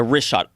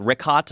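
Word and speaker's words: Richat: Yeah, the rishot.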